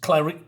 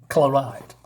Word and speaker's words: Claride: But basically, our now short-haired blonde knows Clarice. Is it Clarice? Is that how you say it? Let me check. Claride, sorry.